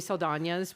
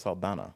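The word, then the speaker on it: Saldaña: Zoe Saldana's was really powerful. Is that her name? Yes. I thought it was Saldana.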